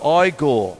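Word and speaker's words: Igor: works in the classical repertoire there you go I Gore you must be the eagle now it's pronounced there we are so one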